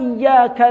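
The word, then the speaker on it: إِيَّاكَ: Itu kan iyyaka na'budu wa iyyaka nasta'in. Tasydid ini ditekanggo bacanya dengan tidak bertasydid, ya, beda jauh maknanya.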